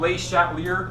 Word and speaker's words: Le Chatelier: If you want to call him Le Chatelier, that's fine too. It's pronounced Le Chatelier.